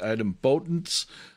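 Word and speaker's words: idempotence: word i want to i always want to say dependence but i think the accent is on this o here so it comes out something like item potence which sounds weird to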